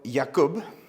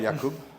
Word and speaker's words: Jakub: So Jakub, I think that's the correct Polish pronunciation, right? Jakub.